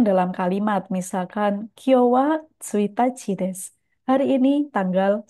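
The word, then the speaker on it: 一日: Untuk kanji ini, kanji angka 1 dan kanji nichi bisa dibaca tsuitachi dengan arti tanggal 1 atau bisa juga dibaca ichinichi dengan arti satu hari.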